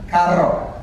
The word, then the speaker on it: carro: The sound is rr, carro. But it's in the middle of a word. I am not so good at rolling for that, R's. you would spell it C-A-R-R. So the double R in the middle of the word will give you that same sound as a single R at the beginning of it.